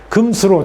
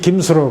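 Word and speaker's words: 金首露: 이것도 김수로로 읽는데 금수로. 저도 아주 익숙하지 않아요. 남들이 하는 대로 따로 하니까 다 김알지, 김수로 그랬는데 왜 어떻게 김알지나 김수로를 읽어요?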